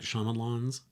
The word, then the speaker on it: Shyamalan: Night Shyamalan's Signs.